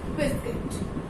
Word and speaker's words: biscuit: Because rule is that we should you will be silent and I will be pronounced. That's why it will be pronounced biscuit.